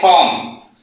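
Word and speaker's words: comb: এই জায়গাতে কম, সি ও এম কম, বি কে সাইলেন্ট রেখেছি, যেটার অর্থ হচ্ছে চিরুনি।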